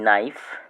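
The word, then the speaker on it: knife: Silent letter হলো বানানের মধ্যে থাকবে, শব্দের মধ্যে থাকবে কিন্তু তার উচ্চারণটি হবে না। যেমন কি কি সাইলেন্ট হতে পারে? কে কে এন আই এফই নাইফ কে এন ও ডবলিউ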